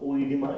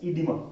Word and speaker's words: edema: It's not oedema, it's edema. O is silent here.